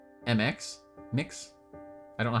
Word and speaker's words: Mx: iter I like MX mix I don't know how to pronounce that I I I would pronounce that as Miz because MX X is z in my brain unless it's mix NX